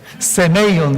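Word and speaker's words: σημεῖον: In Hebrews, Greek, 세메이온 이렇게 읽습니다.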